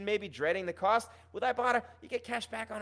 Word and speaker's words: Ibotta: That's right, it's pronounced Ibotta, Ibotta.